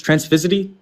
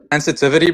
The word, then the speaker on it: transitivity: Trans transfity. Transitivity bro.